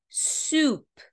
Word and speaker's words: soup: Para sopa, a gente tem soup, soup, soup. Veja que esses dois Os aqui têm um som de U.